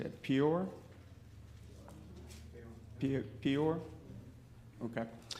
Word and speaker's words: Peor: When Israel was camped at, how you say it, Peor? Peor? Okay. Peor, the people were enticed to worship Baal and sacrifice and ritual fornication.